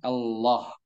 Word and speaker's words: Allah: Mengenal lafzul jalalah Allah. Nah, di sini cara membaca Allah ada 2 cara baca. Yang pertama dengan mentebalkan, yaitu mentafkhim lafzul jalalah Allah sehingga dibaca Allah.